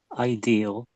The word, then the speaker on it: ideal: Ideal. That's it. That's it. Yeah, you missed out the L when you said it. So I think I think you said idea.